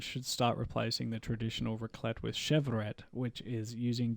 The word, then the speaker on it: raclette: Raclette. It's raclette. Just start mass importing raclette. I'm not lying. I looked up the pronunciation, and on YouTube there was some wanky